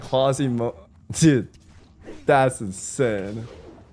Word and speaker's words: Quasimodo: I'm 29 and look like Quasimodo. Dude. That's insane. Quasimoto. How do you spell that name? That Ronnie had a disc pop and that guy finished. Yeah, it's crazy, bro. Oh, it's Modo, not Moto.